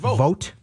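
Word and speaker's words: Vogt: way more normal and Steven vo I think is how vot that's how you pronounce his name the old catcher this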